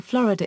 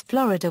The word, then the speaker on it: Florida: The U.S. state name Florida is pronounced in Italian as in Spanish with stress on the second syllable. Because of an Italian word with the same spelling but different stress and because of the English pronunciation, most Italians pronounce Florida with stress on the first syllable.